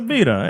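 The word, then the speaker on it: birra: It's a bira.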